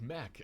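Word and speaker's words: McConaughy: out in Nebraska is Lake mccon or apparently Lake Mech as locals say A 55.78 squ Mile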